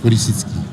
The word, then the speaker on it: Polesitsky: Je n'ose prononcer votre patronyme ayant peur de l'écorcher. Alexandre Polisitsky.